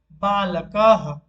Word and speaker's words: बालकः: और जब हम विसर्ग को उच्चारण करेंगे वो ह जैसा उच्चारित होगा, जैसे कि गोपालः। और एक एग्जांपल देखते हैं, बालकः।